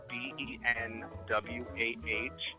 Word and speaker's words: Benwah: Not the French spelling, my own troll spelling phonetically, BENWAH.